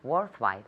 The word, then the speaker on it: worthwhile: It's worthwhile. Good. So worthwhile. Worthwhile. Good. That H is silent.